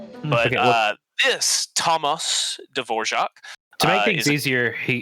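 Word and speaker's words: Dvořák: confused with you know New World Symphony Devorjac the goat the true the true goat yes that actually is how you pronounce his name but uh this Thomas D'vorjac to make things easier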